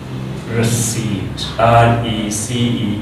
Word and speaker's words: receipt: Suppose we can say that receipt, receipt, receipt. This is receipt, receipt. This is receipt, not receipt.